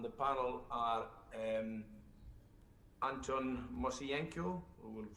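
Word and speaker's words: Moiseienko: good afternoon i'm anton moysenko and this was one of the better attempts at the pronunciation of my name so thanks for that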